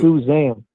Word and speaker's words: Suzanne: Do you know how to spell Suzanne with a Z? Okay, so it's pronounced Suzanne then. Like we want to build a zoo in our house. No. Matt Damon? You ever see that movie? Yeah, it's not Susan. We bought a zoo.